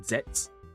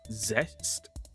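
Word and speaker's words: Zeztz: I've been saying zets. I don't I've been told it's zest. So it's kind of like rest because it's sleep based.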